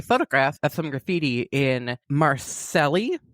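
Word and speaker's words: Marseille: tell from a photograph of some graffiti in Marcelli not sure if I'm pronouncing that right but it's a m-a-r-s-e-i-l-l-e and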